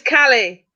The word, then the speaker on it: Kali: kali did you say valley or kelly i said he said shiva kelly is kelly say it right next time you said valley it's kelly it's cali i said callie not